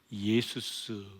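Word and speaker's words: Ἰησοῦς: 이 예수는 그리스어로는 예수스 이렇게 발음합니다.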